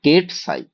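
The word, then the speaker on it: ket: ওকে, এবার হচ্ছে যে কেটটা যদি আমি এইটাকে বলা হয়, মানে এইভাবে উচ্চারণ করা হয় যে কেট সাই।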